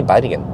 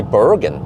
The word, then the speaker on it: Bergen: about vatican you know if i say we're going to take a trip to bite again i say bite again that's the the correct way of the correct pronunciation in norwegian but then foreigners they say bergen yeah well should i